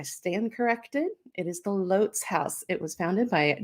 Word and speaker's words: Lotz: a franklin local um you probably like me have mispronounced the name of this place for oh say 20 years just like i have um l-o-t-z it's lots it has been lots to me forever um but i have